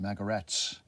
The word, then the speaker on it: Magarac: Magarak, why that means jackass in Serbo-Croatian. Yes, but that's what he called himself. Pronounced Magarats.